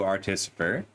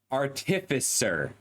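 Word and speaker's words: artificer: Artisifer artifiser. I struggle with this word. I've been reading it as Artisifer for 20 years and been saying it wrong the whole time.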